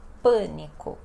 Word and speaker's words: pânico: devem entrar em Pânico acento circunflexo no a para indicar que esta vogal ficou fechada e aonde é a sílaba mais forte então Pânico e todos estão entrando